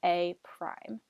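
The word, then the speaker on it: A′: an apostrophe here but the way that we pronounce that is by saying a prime so whenever you see a with a an apostrophe above it that means a prime so that's in the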